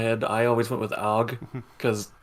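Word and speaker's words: Auge: In Japanese, they pronounce it Oji, and I'm pretty sure that's how the kanji is spelling it too.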